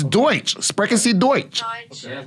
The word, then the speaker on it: Deutsch: The pronunciation for... It's Deutsch.